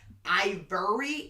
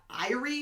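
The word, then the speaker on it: Airi: really annoyed that i kept on saying ivery and not irie and she was like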